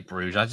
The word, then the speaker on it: Brugge: I always say Bruges. I think Bruges sounds better than Brugge. But if it is Brugge, then fair enough. You know, you've got to go with what the locals say, what the natives say.